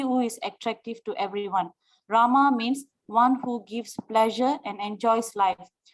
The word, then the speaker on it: Rama: Rama means one who gives pleasure and enjoys life.